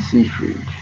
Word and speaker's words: Seyfried: Seyfried.